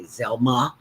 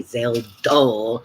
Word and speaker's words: Zelda: McGee who always uh people couldn't pronounce my name when I first started in radio they would always say Zelma Zella so Richard used to say Zelda and Rich but he